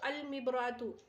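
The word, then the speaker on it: المبراة: ہو جائے گا تو المبراتو میں الف لام کا تلفظ کیا جا رہا ہے، الف اور لام دونوں کو پڑھا جا رہا ہے۔ اور باقی حروف شمسی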